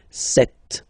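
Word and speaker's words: sept: Then here remember b is not pronounced. Okay. It doesn't exist. So you got this set sound. Set. Set.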